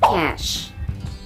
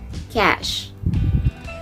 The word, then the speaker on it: cache: read this word cache but actually the correct pronunciation of that word is cash it's cash okay that's only cash